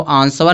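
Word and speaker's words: answer: आंसर में डब्ल्यू क्या होता है? साइलेंट होता है। इसको आंसर नहीं पड़ेंगे। आंसर पढ़ेंगे। आंसर मी्स होता है जवाब।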